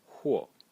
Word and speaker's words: 或: So in this video I'm going to talk about a character which is pronounced huo.